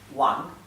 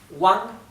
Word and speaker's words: Wang: alguien apellido muy común en china que es wang wang en pink se escribe con la w y se pronuncia como